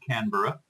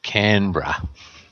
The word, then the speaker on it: Canberra: So, Peter is in the capital district of Australia, in Canberra. Is that how you pronounce it? Canberra? Is it? We're Canberra. Canberra. Canberra. See, I always said Canberra. Yeah. Canberra. Yes. like Yogi Berra, you know.